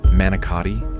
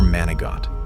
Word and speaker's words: manicotti: Do you say manicotti like a civilian, or manigott like someone raised in Italian kitchens?